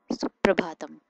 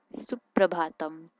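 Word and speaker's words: सुप्रभातम्: Then there's good morning, which can be said as Suprabhatam. Suprabhatam. Note that there's this soft sound at the end of every word, almost every word, and it has to be said.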